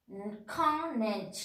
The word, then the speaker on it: acknowledge: Acknowledge, A-C-K-N-O-W-L-E-D-G, acknowledge. We are telling acknowledge. No, we are telling acknowledge. So here we are not pronouncing the letter C.